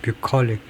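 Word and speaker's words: bucolic: 뷰컬릭 뷰컬릭 뷰컬릭이라고 읽는다.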